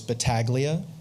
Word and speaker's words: Battaglia: So again, and just for the record, I believe the pronunciation we're going with is Battaglia. So it's not fully Italian, maybe.